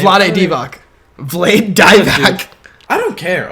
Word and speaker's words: Vlade Divac: you pronounce his name? Vlade Divac, Vlade Divac.